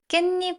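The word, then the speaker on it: 깻잎: “Oh, that’s why it’s pronounced ‘kkaennip,’ not ‘kkaetssip.’” That’s when I realized how fun it can be to explain the Korean language.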